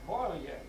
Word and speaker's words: Poirier: It wasn't Poirier, they had the name spelled wrong, it's Poirier.